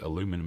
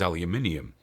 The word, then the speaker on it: aluminium: According to dictionary.cc, aluminum is legit. Let me guess, written by a fucking American. Actually, there were two options, aluminium or aluminum, back when it started. The correct English pronunciation is aluminium.